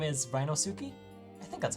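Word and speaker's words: Ryunosuke Naruhodo: playthrough one second okay having Googled it it appears it is ranus narudo so we're going to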